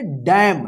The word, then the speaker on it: damn: चलिए यहां पे देखिए DAMN, देखिए यहां पे लास्ट में एम के बाद एन है, तो एन क्या रहेगा, साइलेंट रहेगा। इसको क्या पढ़ेंगे, डैम।